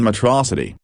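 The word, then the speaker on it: Metro City: Megamind, originally voiced by Farrell, now by Keith Ferguson, was a fiendish villain in Metrocity, which he continues to pronounce to rhyme with atrocity, ably assisted by a tech-savvy fish who lives inside a bowl on top of a robot body.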